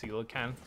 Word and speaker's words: coelacanth: there hello cole and i know they're pronounced coelacanth that I just call them Cole's I have always had